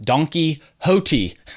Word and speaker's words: Don Quixote: But first, I want to dedicate this show to 3 people: Jeff Eagle, Faustivus, and Don Quixote, although Don Quixote is spelled like Donkey Hoti, which I love.